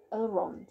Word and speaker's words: Elrond: Lord Elrond.